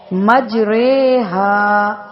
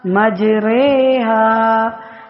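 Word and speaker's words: مجريها: پر ہے، مجریہا، یعنی اب اس کو ہم یہ نہیں پڑھیں گے میم جیم زبر مج، را کھڑا زیر ری، مجری نہیں پڑھیں گے، بلکہ اس کا تلفظ یہ کریں گے میم جیم زبر مج، را کھڑا زیر رے، ہا الف زبر ہا، مجریہا، جیسے قطرے پڑھتے ہیں قطرے۔ اسی طرح اس کو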